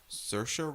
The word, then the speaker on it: Saoirse: Saoirse Ronan. Huh? Ladybird. Oh, okay. The lady whose name is not said how you spell it.